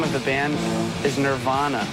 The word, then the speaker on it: Nirvana: pronounce the name of the band is Nirvana.